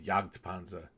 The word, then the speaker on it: Jagdpanzer: what Jagdpanzer means, and it's really Jagd with a D. Is a mispronunciation of Jagdpanzer, which means hunting tank.